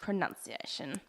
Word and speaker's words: pronunciation: no oh you it's just Pro nunzia shouldn't yes pronunciation the next one this is a word that